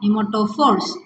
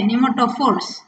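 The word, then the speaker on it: pneumatophores: Nematophores. Okay. So P silent here. You have to pronounce this as N-E-U. New. M-A. Ma. T-O. To. P-H-O. For. R-E-S. Ris. Okay. Nematophores.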